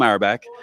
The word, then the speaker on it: Auerbach: How do I pronounce? Yes. Auerbach?